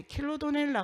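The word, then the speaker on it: Chilodonella: 정비가 필요했는데, 여기서 이제 킬로도넬라 같은 경우에는 제대로 읽는 게 킬로도넬라이다. 그러니까 킬로도네라라고 표현하는 것은 잘못됐고 킬로도넬라이다 라고 제시를 해주셨고, 그 다음에 피시리케차 살모니스라고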